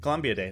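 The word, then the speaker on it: Columbidae: They're the same, like, Columbia Day, right? Or I'm not sure how you say it. Columbia Day.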